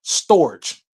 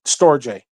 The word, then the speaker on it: storge: called storj storj or storage now it depends on depends on where you are in the world they'll pronounce it differently but in America we we will pronounce it storj so storj s t